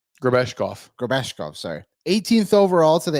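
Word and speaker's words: Grebeshkov: Grebashev. That's how you say his name, right? Grabeshkov, sorry.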